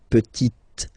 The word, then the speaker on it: petite: So I insist because here it's t, okay? So really you need to make the difference between the masculine form petit and then the feminine form petite, okay?